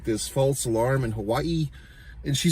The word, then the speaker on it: Hawaii: It's like Hawaii, like she pronounces every A and I, Hawaii, and then she's always saying aloha, the spirit of aloha, you know what I mean?